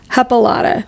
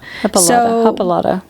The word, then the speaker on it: Hippolyta: If you guys can't tell, we're having a tough time saying it because the words the letters do not match it phonetically. Yeah, it's hippo. Hippolyta. Hippolyta.